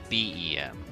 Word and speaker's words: Beheeyem: Little Green Monsters and BEM as in Bug-Eyed Monsters.